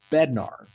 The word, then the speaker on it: Bednar: So whenever you see what looks like a dermatofibrosarcoma protuberans with a melanocytic component, that's called a Bednar tumor. It's actually pronounced Bednar.